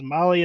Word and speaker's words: Mahle: And to all of our podcast listeners, Molly is spelled Mahle.